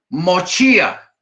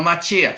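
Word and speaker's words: מושיע: Mochía, no Machía, sino Mochía, Salvador, Isaías 63:8.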